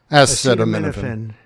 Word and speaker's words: acetaminophen: Acetaminophen.